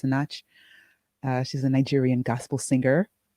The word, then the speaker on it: Sinach: I think her name is pronounced Sinach.